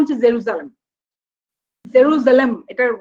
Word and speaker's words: জেরুজালেম: মধ্যে নাম্বার 1 হচ্ছে জেরুজালেম। জেরুজালেম, এটার উচ্চারণটা দেখে নেবেন, জেরুজালেম বলা হয় খুব দ্রুত, জালেম বলবেন না, এর আগে আমি শিখেছি, জালেম হবে না, সালেম, মানে এসটা, এর আগের ক্লাসেও বলেছি।